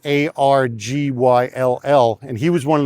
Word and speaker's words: Argyll: And the word Argyle actually comes from the Duke of Argyle in Scotland, only it's spelt Argyll.